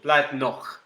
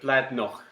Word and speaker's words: Bladnoch: So Bladnoch and Macallan, or Bladnoch. Sorry, just being very English about that, but Bladnoch.